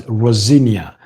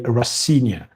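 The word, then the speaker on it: Rosenior: Although some people pronounce his name as Rosinia. Liam Rosa. But I I pronounce it because that's how I heard his dad pronounce his own. Leroy Rosia.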